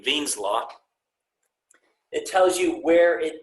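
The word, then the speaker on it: Wien's law: there's an equation called veen's law spelled with the w but pronounced with the v veen's law it tells you where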